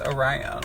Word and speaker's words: Orion: No, that's how it's pronounced. It's Orion without the comma.